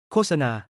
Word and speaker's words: โฆษณา: The word for advertisement โฆษณา loses its final T sound in the first syllable, ศิลปะ meaning art drops the N sound, อิสระ meaning freedom lets go of its T sound.